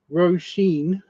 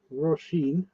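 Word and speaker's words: Róisín: Roshine or Roshin. Rosheen. Uh, R O R O R O R O R O R O R O R O R O R O R O I S I N.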